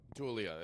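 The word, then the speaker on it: Taulia: Tulia, is that how you say it?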